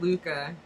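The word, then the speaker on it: Lykke: It's pronounced Luca.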